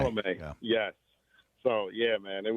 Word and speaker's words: Chalamet: How do you pronounce his name? Uh, Chalamet. Timothy Chalamet. Chalamet.